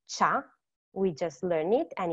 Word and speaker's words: ciao: And now you also know how to pronounce it well because it's cha.